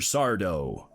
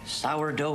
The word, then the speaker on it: Sardo: see the man himself Mr sardo um is there a Mr s dough here that's s d no Mister Accent on the dough every time this guy